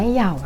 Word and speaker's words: YAO: กับ แปลง หมี ผม ของ เยาว หรือ ว่า ออก เสียง ว่า เหย่า นั่น เอง นะ คะ